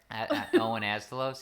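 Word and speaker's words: Owen Asztalos: The Owen, how do you pronounce that? Astalos. Sure. Owen Astalos.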